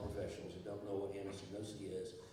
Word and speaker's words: anosognosia: Can you talk briefly about the work of the blue team and this condition known as anosognosia?